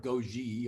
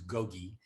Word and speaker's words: GoGi: i'll call it gogi it's kind of french they'll mispronounce it they'll probably call it goji or go and i